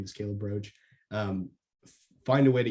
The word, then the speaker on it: Caleb Roche: not like the bug it's pronounced like the bug but not spelled like the bug um if you go to my our website or connect me with me on linkedin my name is calebroach um find a way